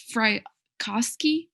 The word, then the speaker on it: Frykowski: It's Frykowski, I believe is how you say his name.